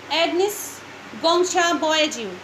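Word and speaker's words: Agnes Gonxha Bojaxhiu: She was named एग्नेस गोंचा, ठीक है, बॉयज्यू, ये है इसकी प्रोनाउंसिएशन, एग्नेस गोंचा बॉयज्यू, ये इनका असली नाम था मदर टेरेसा का।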